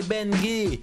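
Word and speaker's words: Bengui: Moi c'est Benguy, B-E-N-G-U-I, ça se prononce comme ça s'écrit.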